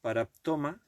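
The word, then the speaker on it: παράπτωμα: En el griego, cuando dice paráptoma, la pronunciación es paraptoma, porque tiene acento en la O.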